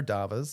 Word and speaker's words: DAVA: I don't know if it's DAVAs or do you all call it DAVA? How do you pronounce that? Yeah, so our domestic abuse victim advocates, we call them our DAVAs.